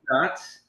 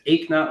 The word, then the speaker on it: Eknauth: It's Eknath, like no pain. So imagine you did not work out today, and you don't hurt. You ache not.